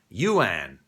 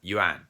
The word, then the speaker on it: yuan: have gone y-u-a-n and that tends to make people go you an instead of juan okay and here we